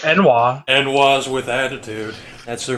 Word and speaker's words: ennui: You said it's pronounced Enwa.